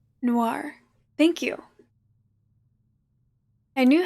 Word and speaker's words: Noir: thing yes it is it's then nor Noah n-o-i-r Noir thank you I knew how to pronounce it like I knew what was correct